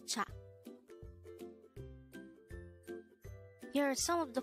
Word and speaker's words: 차: This is composed of just one syllable, and this is pronounced as cha.